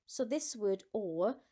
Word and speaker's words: aux: The X is silent, so this word or sounds exactly like this one, or.